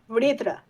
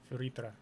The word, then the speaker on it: Vritra: I think from now on going to pronounce the dragon's name in my usual phonetics. It's way easier than trying to pronounce it like in English. Vritra. Vritra. Well, that's more accurate to the Hindi as well, as far as I know.